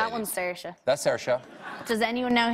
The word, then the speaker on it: Saoirse: That's Saoirse. Does anyone know how to pronounce that in the audience?